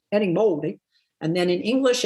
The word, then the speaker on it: Erín Moure: this name and then plus in Galian my name is Eddie Moldi And then in English it's Eron Mor.